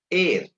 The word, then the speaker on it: heir: And the example, he is an heir to the throne. So you could not pronounce it as hair. You can pronounce this as air because H is silent here.